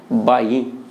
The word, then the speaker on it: भाई: यहां पे हमने उच्चारण किया भाई, लेकिन वहां उच्चारण क्या है, बाई।